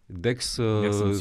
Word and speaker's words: DECS: donc j'ai bien prononcé c'est c'est bien Dex comme Dex dictionnaire explicatif sauf que Dex le Dex qu'on a fait nous c'est un dictionnaire à base d'idée donc CS au lieu de X D E D E